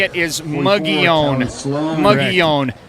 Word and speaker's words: Mogollon: Mogollon. How do you say it? What's in your mind? What is the correct pronunciation? I say it Mogollon. Mogollon. But people say it Mogollon Mustangs or Mogollon. Right. Mongolian.